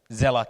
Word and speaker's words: Seele: the gsella community well many people will the first time to see the word of gsella they probably will pronounce a as Cu but I have to say this word comes from German Germany and it is a german word means soul yeah and which refers